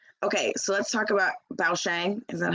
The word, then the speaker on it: Bao Xiang: Okay, so let's talk about Bao Shang. Is that how you say it? Yeah, Bao Xiang.